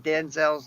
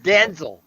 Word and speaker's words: Denzel: uh news blurb and we have been pronouncing denzel's name wrong the entire time it's denzel he said it himself yeah there was a